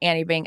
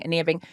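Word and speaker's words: Anine Bing: It's not Annie Bing, Ania Bing.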